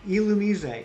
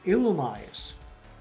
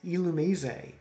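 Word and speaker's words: Illumise: illumi's but i never okay yeah i can't elumizay and and from what i understand is that the official pronunciation i always pronounced it illumize like illuminate except with uh with an you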